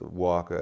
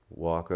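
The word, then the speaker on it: Wakaw: And in fact, Waka at this moment is in a state of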